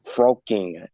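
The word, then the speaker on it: Frolking: and became one star general connor this jim pronounced his last name again fr fro queen froaking f-r-o-l-k-i-n-g how did you get in contact with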